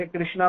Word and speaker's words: कृष्ण: जगह गलती से कृष्ण जैसे अंग्रेज लोग कृष्ण नहीं बोल पाते कृष्ण कृष्णा बोलते कृषणा कृ तो भगवान कर